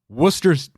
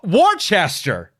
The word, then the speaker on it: Worcester: talking about the sauce they can say Wooster fine but then they see Worcester by itself Worcester yeah no it's not it uh South Africa I